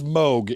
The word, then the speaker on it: Moog: It is Moog.